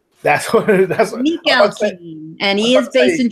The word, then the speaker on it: Mikhalkin: between him and I'm going to try to pronounce this guy's name. Oh, and by the way, I've got it. It's Igor Mikhalkin. That's what Mikhalkin.